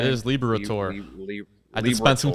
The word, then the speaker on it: Liberatore: That is Liberatore.